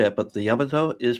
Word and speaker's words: Yamato: And again, the the just the last time I'll say it, but the Yamato is pronounced Yamato, not Yamato. Yamato.